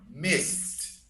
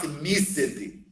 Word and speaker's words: missed: told ejin or anthony missed missed okay not mystity i think it's difficult